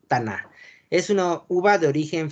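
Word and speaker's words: Tannat: La T en las palabras francesas no se pronuncia cuando está al final. Entonces, la pronunciación es Taná.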